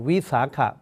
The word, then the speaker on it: Vesak: in Thailand we call Vesaka Bucha Day, the day of worship in the month of Vesaka or the 6th lunar month. In some countries they pronounce as Vesak. Vesak, that is Vesaka or Vaisakha.